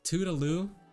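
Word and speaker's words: Tudalou: No, like it's Tudaloo, but like it's spelled Tuda and then Lou.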